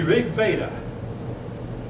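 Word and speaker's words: Rig Veda: four five years pregn it's pronounced like an a like the Spanish V Nots the rig vaa contains and folk if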